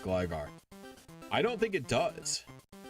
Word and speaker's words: Gligar: For Gligar, since there's a following vowel and only one consonant, it's by default pronounced Gligar.